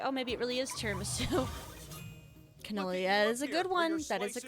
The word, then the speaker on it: Tiramisu: It kind of rhymes with Mogadishu.